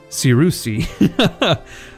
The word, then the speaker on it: Cyrusian: all the difference there it's not just Cyrus it's Saru see so if we are